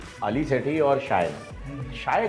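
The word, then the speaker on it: Shae Gill: किस तरह से अदा करना है, किस अब मैं इसको शिया शिया बोल रहा हूँ कल से। हाँ शाह है, शिया है, SHEA। शायगिल, मेरे ख्याल में वो अपने नाम को ऐसे शायगिल। प्रोनाउंस करती हैं, शायगिल।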